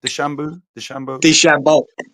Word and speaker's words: DeChambeau: How do you pronounce his name again? The Shambo.